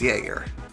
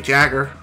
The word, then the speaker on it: Jagger: to Jaeger or yeah his name is pronounced Jaeger or could be jagger who knows I believe this properly